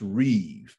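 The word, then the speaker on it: ריב: the hebrew word is reeve it looks like rib r-i-b pronounced reeve and that word is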